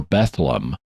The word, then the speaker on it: Bethlem: But because of the way pronunciations change over the centuries, Bethlehem or Bethlehem gave rise to another word, Bedlam.